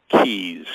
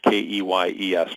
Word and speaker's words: Keyes: My last name is Keys. Kee yees.